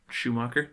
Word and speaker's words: Schumacher: I'm pretty sure it is Schumacher.